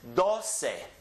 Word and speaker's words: doce: me on the same the next one is dossei dossei those are easy ones then we have